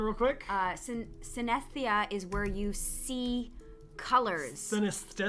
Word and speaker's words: synesthesia: Synesthesia. Yes, we'll learn how to properly pronounce that.